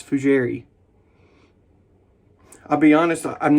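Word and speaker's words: fougère: it um very fugiary no it's not jerry it's fujiri i'll be honest i'm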